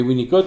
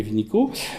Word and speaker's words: Winnicott: s'appelle Bion, ou Bion, parce que nous avons une espèce de mode culturel en France qui consiste à parler de Bion en l'appelant Bion, en le prononçant à la française, mais Winnicott, on le prononce à l'anglaise. Donc on pourrait dire Bion et Winnicott, ou Bion et Vinico.